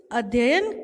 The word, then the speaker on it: अध्ययन: Stay ठहरना, stop रुकना, study अध्ययन करना। इसको हम क्या प्रोनाउंस करते हैं? अध्ययन, क्योंकि 2 बार यह लिखा हुआ है तो अध्ययन करना, सक चूसना, सपोर्ट समर्थन करना।